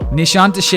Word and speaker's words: Nişantaşı: It looks like Nişantaşı. Nişantaşı is how you say it.